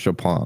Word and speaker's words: Chopin: from na you don't expect it to be pronounced chopin you know it's like at the same time